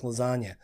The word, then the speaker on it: lasagna: G's move in silence like lasagna so because the g is silent I got nobody tells